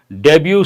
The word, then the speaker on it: debut: takes on PM in debut speech there's one word here Panka takes on prime minister in debut speech here takes on prime minister means attacking the Prime Minister deut speech T is silent and deut Taun means